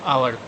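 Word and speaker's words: hour: से ही slab an आवर आवर आवर में आ आ रहा है यानी कि इससे रिलेट कर रहा है एच साइलेंट होता है उच्चारण में और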